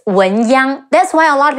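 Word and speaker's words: 文鸯: Now, a very impressive general we have to mention is Wen Chu, better known as Wen Yang, Wu En Wen, Yi Ang Yang, Wen Yang.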